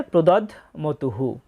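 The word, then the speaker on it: প্রদধ্মতুঃ: এবং শেষে আছে প্রদধমতুহু। এখানে ধয়ের সাথে ম যুক্ত অবস্থায় আছে, তাই ধটা অর্ধেক উচ্চারিত হবে প্রদধ, ম তয়রস্যু বিসর্গ।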